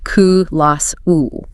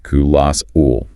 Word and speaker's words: colossal: And pronunciation. Ku-las-ul. Ku-las-ul.